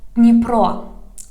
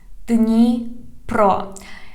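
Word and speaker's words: Дніпро: Here we have Dnipro, Dnipro.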